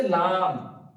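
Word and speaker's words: لام: তারপর আছে লাম, লাম একদম সোজা, বা যেভাবে আমাদের ঠোঁট একসাথে মিলিত হওয়ার পর উচ্চারিত হচ্ছিল বা, তো ঠিক লাম উচ্চারণের সময় লাম, লাম। বা বলে আমরা ঠোঁটটা তুলে নিচ্ছিলাম, আর লাম বলার সময় আমরা লাস্ট অংশে লাম, এভাবে উচ্চারণ করব।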